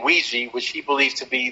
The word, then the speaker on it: Ouija: is not the word Ouija is a combination of the French and German words for yes M which is we and yah right we okay so the the wi because it's spelled Qi actually it's spelled o UI and then that's how you say we in in French and then yah in German is j a so Ouiji Ouija whatever